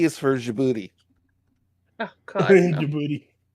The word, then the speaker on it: Djibouti: D is for Djibouti.